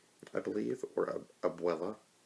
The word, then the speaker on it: abuela: his grandmother's name is Abula, I believe, or Abuela. Is it, was it Abula or Abuela? I think Abuela is how you pronounce it correctly.